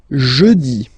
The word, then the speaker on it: jeudi: Next one, jeudi, jeudi. Remember, when you combine this u, you get the sound jeudi, jeudi. So I insist a little bit, so make it softer.